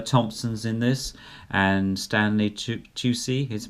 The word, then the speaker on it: Tucci: Okay, so Emma Thompson's in this, and Stanley Tucci, is pronounced that, and Fiona Whitehead.